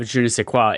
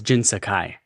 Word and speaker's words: Jin Sakai: I'm a little I think you're pronouncing it wrong. The first one didn't have Juniqua. It was Jin Sakai.